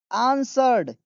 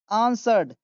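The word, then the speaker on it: answered: के साथ बोला एंड आंसर्ड इसको आंसर्ड पढ़ते हैं क्या पढ़ते हैं आंसर्ड बहुत सारे लोग इसे आंसर बोलते हैं जो कि गलत है।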